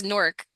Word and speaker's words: Newark: I think it's Newark.